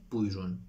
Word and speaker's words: buyurun: مراقب باشید، این «ا» را در محاوره تلفظ نمی‌کنند؛ instead of "burada" they say "burda," instead of "buyurun" they say "buyrun"; چرا؟